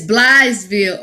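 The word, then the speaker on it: Blytheville: It's Blythesville, Arkansas.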